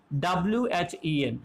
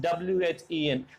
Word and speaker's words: when: you and that is w-h-e-n now how will you pronounce it w-h-e-n so we pronounce it is as when when now here h is silent now i want to